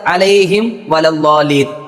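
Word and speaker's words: عَلَيْهِمْ وَلَا الضَّالِّينَ: എടുത്തു പറയാനുള്ളത് അലൈഹിം വലല്ലാലീൻ. ഇവിടെ പലരും ഓതുന്നത് അലൈഹിം വ, അതായത് മീം മറയുകയാണ്. ഇവിടെ ഇദ്ആമും ബിഉന്ന എന്ന രൂപത്തിലാണ് നമ്മൾ എല്ലാവരും ഓതുന്നത്. എന്നാൽ അവിടെ ഇൽഹാർ എന്ന രൂപമാണ്. വെളിവാക്കണം വ്യക്തമായി തന്നെ മീമിനെ, അലൈഹിം വലല്ലാലീൻ.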